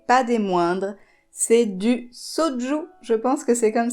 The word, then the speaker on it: soju: cette liste et pas des moindres c'est du soju je pense que c'est comme ça que ça doit se prononcer c'est une boisson coréenne j'avais trop hâte